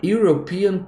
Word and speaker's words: European: uma cultura europeia a European Culture a European Culture esse European esse eu ele tem som de né E aí no mesmo